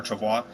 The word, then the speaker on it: travois: And next, we're off to our first stop on our journey to talk about the Native American travois, or you hear it pronounced different ways, travois or travois, but to learn about